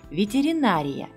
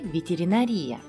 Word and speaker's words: ветеринария: его написание просто запомните что касается ударения то оно падает на а правильно ветеринария не ветеринария какой из этих вариантов